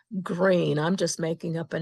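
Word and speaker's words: Greene: Well, what's the difference in pronunciation between green with an E on the N and G r E N? No E on the end. They're both pronounced green.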